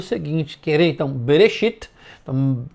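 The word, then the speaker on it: בראשית: Querer, então, Bereshit, então, não é Bere, é bem rápido, né? É como se fosse Bre, é como se fosse B-R-E.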